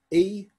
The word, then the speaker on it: Evnia: whose name is spelled E-V-N-I-A. Evnia. The T-H was a V when she went to Iceland, which is a pretty fair indication that that's how that sound was pronounced in most of the other parts.